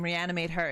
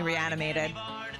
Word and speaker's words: Reanimate Her: My name, Reanimate Her is just a lot to say, and a lot of people mess it up, too. They call me Reanimated.